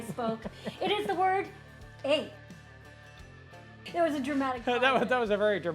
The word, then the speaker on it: eh: You have to learn how to say the word a properly. Everybody always puts emphasis on a and it shouldn't be that. That should just be a easy flow with the sentence.